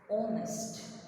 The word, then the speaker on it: honest: He is an honest, H is silent, honest, o, o, o sound.